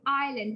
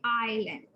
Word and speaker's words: island: Okay, so I want you to quickly look at the word island Remember island, this S is silent. So we say island. We don't say Iceland, we say island.